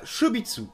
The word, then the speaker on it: Chobits: proche avec le manga chez mitsu et oui je le prononce à la japonaise parce qu'en français ça fait des shows bits les esprits mal placé